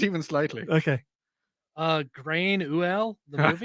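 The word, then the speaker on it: Gráinne Mhaol: Grain Uel, the movie. How do I actually pronounce that? That's pronounced Grania Whale.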